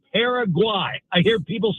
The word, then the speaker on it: Paraguay: USA versus it's not Paraguay, it's Paraguay. It's not like Ben Flesh, it's Ben Fletcher. So if you're going to say the opponent for the USA, they're not pale Paraguay. It's Paraguay.